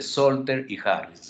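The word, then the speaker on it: Salter-Harris: tomen muy en cuenta la famosa clasificación de solter y Harris así se pronuncia estos son los autores que clasificaron y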